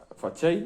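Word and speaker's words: façade: Fachei es que se escribe fachade, ¿eh?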